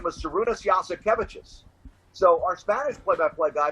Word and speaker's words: Jasikevičius: He said, is it like, yes, we have cabbages?